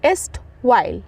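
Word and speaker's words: erstwhile: एल ए एस्ट वाइल देखो यहां पे ना ई आर जो है ना थोड़ा सा साइलेंट है तो यहां पे स्ट वाइल पढ़ेंगे स्ट वाइल ओके स्ट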